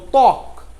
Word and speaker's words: ত্বক: যেমন ত্বক, ত্বক বানানে দেখুন, তয় বয় আর ক, ত্বক। এখানে ব আদিতে রয়েছে, কিন্তু যখন উচ্চারণ করছি তখন শুধু ত এর উচ্চারণ করছি, ব এর উচ্চারণ নাই, ব এর উচ্চারণ উজ্জ থাকছে।